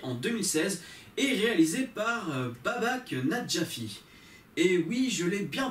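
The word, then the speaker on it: Babak Najafi: de Londres, sortie en 2016 et réalisée par Babak Nadjafi. Et oui, je l'ai bien prononcé.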